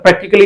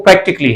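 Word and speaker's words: practically: इसको प्रैक्टिकली बोलते हैं पर प्रैक्टिकली इज द रंग प्रोनंसिएशन इसका जो सही प्रोनंसिएशन है वो प्रैक्टिकली है यानी इसमें ये ये जो ए का लेटर है ये साइलेंट है सो इट वाज ऑल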